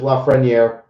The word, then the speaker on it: Lafreniere: I know a lot of people are going to have a debate with the Lafreniere rookie on how you pronounce it. It is Lafreniere.